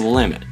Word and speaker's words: Willamette: There are 12 bridges that cross the Willamette, and yes, that's how you pronounce it.